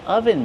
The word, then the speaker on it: oven: Ah, I'm wearing an oven mitt. This is an oven mitt. How do we pronounce oven mitt? Oven. Use the closed sound like up and cut.